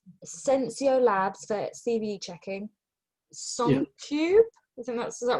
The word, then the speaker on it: SonarQube: Am I pronouncing it? Is it SonarQube? SonarQube, yeah.